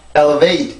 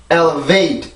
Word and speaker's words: elevate: 그래서 이 발음은 절대 elevate 이게 아니라 elevate 이렇게 소리를 만들어 주셔야 돼요.